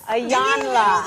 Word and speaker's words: Iyanla: Iyanla. Hey, I'm a pro, so you know we learn how to put it in. That's anytime. exciting. Do y'all hear this? Iyanla. Yes. Ayana.